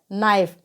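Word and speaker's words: knife: नॉट इसी प्रकार से नाइफ तो जब के के बाद में की आए तो वहां पर भी के क्या रहता है साइलेंट रहता है तो नाइफ को हम यहां पर क्या पढ़ेंगे नाइफ इसी प्रकार से आप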